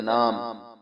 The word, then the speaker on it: name: आखिर में जो ई है ये साइलेंट रहता है हमेशा की तरह, क्योंकि आखिर में है। ठीक है, लफ्ज के आखिर में इसकी आवाज पे कोई असर नहीं होता, ये साइलेंट रहता है।